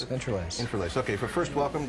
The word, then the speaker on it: IntraLase: Is that how you pronounce it? Yes, Intralase.